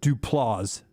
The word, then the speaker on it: Duplass: Mark said I mispronounced it. Duplass brothers.